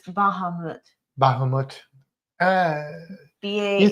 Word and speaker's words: Bahamut: We actually say his name wrong. It's Bahamut.